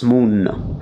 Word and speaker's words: munno: ND becomes NN. Mondo becomes Munno.